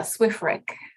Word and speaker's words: SWREC: Yeah, SWREC.